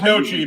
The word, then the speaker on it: gnocchi: Well, I know it's gnocchi, but I'm like, there's a G in there. Oh God, yeah, it's Gnocchi. Gnocchi. The G is silent.